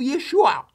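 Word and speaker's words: ישוע: So, it means they did know that his name is pronounced "Yeshua."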